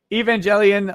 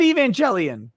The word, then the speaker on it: Evangelion: four uh andrew haskins says evangelion like televangelist say it right nick i said evangelion uh what the god